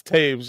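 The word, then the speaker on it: Toews: It's Taves.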